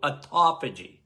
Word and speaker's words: autophagy: More and more people are talking about autophagy, your body's self-cleaning oven.